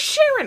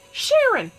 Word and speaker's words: Sharon: who's the is Charlene my name is Sharon I'm pronouncing it in French in English I'm pronouncing it Sharon where do you hear